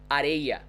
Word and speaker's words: areia: We have some words there, and the way we pronounce this R is the vibrating sound I told you before. It's this r sound, right? No matter the accent, in Sao Paulo, in my hometown, anywhere. So we pronounce it like r.